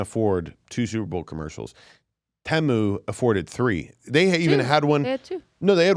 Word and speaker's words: Temu: one commercial is temu or teu well it's temu we've all pronounced it wrong I said U it's temu that's how they said on the commercial like te temu temu yeah they were not saying timu so temu has all their products on their